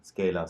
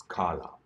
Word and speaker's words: Scala: will you pronounce it I had a mistake earlier when I came to know the first time scale a scale a scale it's Carla yes Carla is the meaning